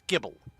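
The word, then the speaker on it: Gible: catch oh Gibble so it's not guble it's Gibble okay what a weird spelling then usually if it's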